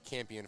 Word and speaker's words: Campion: Anyways, but yes, we will always pronounce her name Campion from now on. It is not Champion, nor will it ever be.